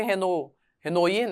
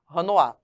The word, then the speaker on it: Renoir: Se escreve Renoir, né? Mas é francês, Renoir.